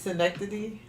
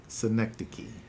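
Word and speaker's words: synecdoche: it's not that good it's Schenectady synec the key why did you why do I say it wrong I don't know because that's how it looks but it's giving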